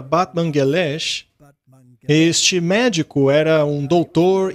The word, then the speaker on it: Batmanghelidj: Bem, houve um cientista chamado Dr. Batmanghelidj, mas aparentemente se pronuncia Batmanghelidj.